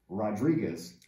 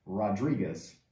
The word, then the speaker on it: Rodriguez: E nos Estados Unidos é pronunciado Rodriguez. Rodriguez. Mais tipo espanhol. Rodriguez.